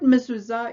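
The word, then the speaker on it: מזוזה: often but the word mizuza itself means literally the door post the second letter in the word is the new letter zine which makes the sound z like a buzzing bee and see if you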